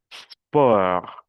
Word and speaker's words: sport: Concert, poste, sport. A pesar de que es una palabra extranjera, no se pronuncia la T.